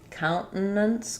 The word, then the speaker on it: countenance: They'll might use a salabic n here in which case it'll sound like count. We'll um leave that t as an unreleased t. Count and then kind of a short little there. Countence. Countence. Or uh when there's an nt like this, the other option is to truly say that t. then it'll sound like counts.